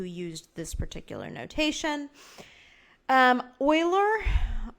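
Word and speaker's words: Euler: this particular notation um Oiler that's Oiler spelled like that came up with his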